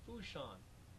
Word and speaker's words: Fourchon: job where we are it's a port called foo Shan and mommy can look it up on a